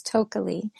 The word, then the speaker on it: Tokeli: So, my name is Toki. It's rhymes with totally, and it's totally. It's to O K L I.